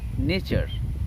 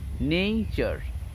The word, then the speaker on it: nature: যেমন এই যে ধরো আমি প্রকৃতির মাঝে বসে আছি, প্রকৃতিকে আমরা ইংরেজিতে বলি নেচার, NATURE, কিন্তু এই যে নেচার উচ্চারণটা সঠিক নয়, মনে রাখতে হবে এটা হবে নেইচার, নট নেচার, ইট ইজ নেইচার।